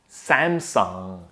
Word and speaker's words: Samsung: We start with Sam, Sam. Now consider the vowel sound here as eh, Sam. But it can be an eh on its way to ah, but not quite the ah yet, okay? So it's Sam. And then we have song, just like sing a song, all right? There is a nice long ah, and notice that we don't end with G. There's no G at the end, right?